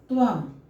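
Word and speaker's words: त्वं: त्वम, त वह है, अंतिम वर्ण है, अंतिम वर्ण के ऊपर में अनुनासिक लगा है, इसका उच्चारण हम क्या करेंगे? यहाँ पर म के रूप में करेंगे।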